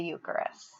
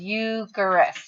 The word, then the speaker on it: Eucharist: recognize that it says eucharist and remember we talked about when you say the word it kind of sounds like you and christ put together